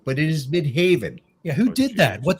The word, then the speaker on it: Midheaven: got breaker Instinct in midhaven and it says mid heaven but it is midhaven yeah who did that what the [ __